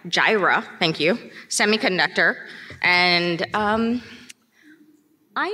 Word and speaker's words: Jireh: she is a scrum master at I gotta pronounce this right jeer Jireh Jireh thank you semiconductor and I know her for